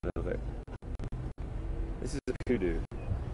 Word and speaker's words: kudu: This is a kudu. It's spelled K-U-D-U.